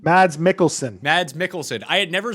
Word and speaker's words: Mads Mikkelsen: was absolutely excellent and i i can never pronounce the guy's name was it mads markkanen mads mikkelsen mads mikkelsen i had never seen him as